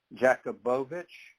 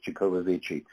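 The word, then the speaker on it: Jacobovici: doing this show and samka Jacob avici you pronounced his name he says jacobovich but when you look at it it's j-a-c-o-b-o-v-i-c-e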